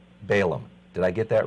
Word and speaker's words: Balaam: I'm never sure the pronunciation. Balaam. Balaam.